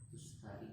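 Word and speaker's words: تستري: Nah, berarti tak pertama apa? Ya, kemudian lanjut. Nah, apa itu maksudnya? Tak yang kedua. Nah, ya itulah tak yang kedua, harokatnya fathah. Ya, lanjut. Garni sin. Muhmalah bainahuma. Nah, ya itu. Ini disebabkan kepada kotak. Yang kotak ini terkenal. Apa bacanya jadinya tadi?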